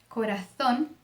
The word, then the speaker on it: corazón: Por exemplo, corazón, zapato.